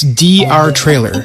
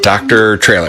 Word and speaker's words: DR Trailer: No, it's DR Trailer. That's their name. Yeah, I get it. No need to spell it. Dr. Trailer. It's DR Trailer Sales.